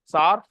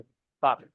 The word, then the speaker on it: tsar: मूगा, सार, TSAR, कुछ लोग टसार बोलते हैं, टसार नहीं है, टी साइलेंट हो, सार. एरी और ये सब.